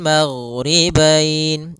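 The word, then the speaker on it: الْمَغْرِبَيْنِ: Kemudian di sini huruf ghain, hati-hati dalam pelafalannya, jangan sampai memantul, jangan maghribain wa Rabbul maghribain sampai dia memantul. Nah, karena huruf ghain tidak ada sifat qalqalah, tidak ada sifat pantulan.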